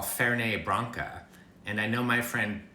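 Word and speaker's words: Fernet-Branca: ingredient which i call ferne branca and i know my friend brad parsons is out there and his ears hurt because it's fernet fernette branca but in french you don't pronounce the final t and i'm used to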